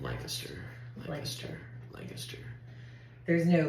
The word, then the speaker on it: Lancaster: oh right right but Lancaster is how you're supposed to say it like really fast Lancaster lanaster Lancaster there's no like